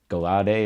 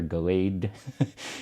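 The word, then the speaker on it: Gallade: this, I'm going to say it wrong again, Galade or Galade, and then this Steelix EX, which is a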